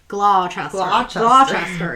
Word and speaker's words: Gloucester: was located at 79 Gloucester Road in London. I think I pronounced that right. We have like our Leicester, which has that C. Not Crochester. Gloucester, yeah.